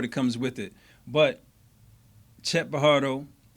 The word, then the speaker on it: Pajardo: But Chet Pajardo, the J is silent hillbilly.